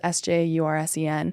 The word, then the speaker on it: Sjursen: But what happened, if you study, Daniel Scherzen, I think is how you pronounce his name. It's Sjursen. He wrote a really good book.